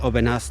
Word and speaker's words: Aubenas: I feel like in the north you're more likely to have a silent S at the end of a word or a town. But here in the south, they usually pronounce the AS. It's like with the wines, Gigondas, Vaqueras, and the city Aubenas, not too far away from here.